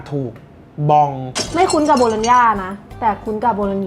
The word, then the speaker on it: Bologna: อย่าง นี้ ใช่ มะ ว่า คน ไทย มา อ่อน เสียง ว่า โบโลน่า แต่ คน อิตาเลียน แท้ ๆ เขา จะ ออก เสียง ว่า อะไร อ่ะ ทำไม มี ตัว จี เมล์ น่ะ เป็น ไร ไม่ ได้ โดน น่ะ โบโลน โบโลน โบ โลญญ่า bologna รุ่น ย่า ลา ซาน